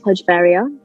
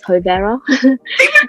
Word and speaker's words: Hojveria: So the correct pronunciation of my name is HOJVERIA. So all throughout school, I've heard so many different names. I mean, one of the worst was HOJVERIA.